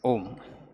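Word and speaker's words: ॐ: has to start here no om actually is a condensed word condensed sound symbol of three letters when you pronounce ah you have to use your throat ah ooh it just rolls right and ma you do use your lips two lips should touch ma ah um fast when you do it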